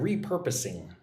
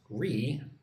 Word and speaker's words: repurposing: Look at the word repurposing. Re-per-pa-sing. 4 syllables. Repurposing. Repurposing.